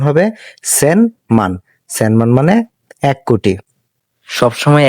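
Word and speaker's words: 千万: এবং এই পুরাটাকে আমরা বলি মান তো এটার উচ্চারণ হবে সেন মান সেন মানে এক কোটি সবসময় একটা বিষয় খেয়াল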